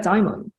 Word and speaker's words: daimon: least my interpretation of this word daimon or daimon. You can spell it D-A-E-M-O-N. The way I spell it is just a more ancient Greek version of it.